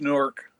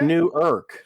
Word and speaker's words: Newark: newark newark california or something but it's just newark newark all right if you guys say so